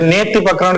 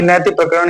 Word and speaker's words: नैतिक प्रकरण: अब यहाँ पर आप देखें नैतिक प्रकरण या नेत्य प्रकरण कहीं कहीं बोलते हैं। ठीक है, हालांकि नैतिक प्रकरण ही इसका उच्चारण होगा।